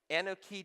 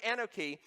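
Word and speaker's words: אנכי: The word Anoki has 4 letters in Hebrew, A-N-C-H-M-Y. The O really isn't there. It just helps us pronounce it, okay?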